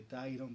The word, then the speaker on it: Tyron: Quien te habla se dice Tyron, pero se escribe Tirone en las redes sociales, con Y.